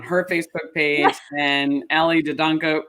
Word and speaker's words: Dedianko: It's Dedianko. Dedianko. Philip actually told me, and then I forgot. So thank you, Dedianko.